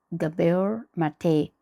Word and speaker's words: Gabor Maté: Gabor Gubair, I'm not sure if I'm pronouncing his name properly. It's Gabor Gabor Mate.